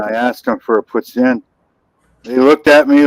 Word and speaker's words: poutine: No, it's French. Poutine.